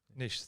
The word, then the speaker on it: Niš: I remember we spent 8 days in a place called Niš, excuse the pronunciation for the Serbian audience. Niš, thank you, Marin.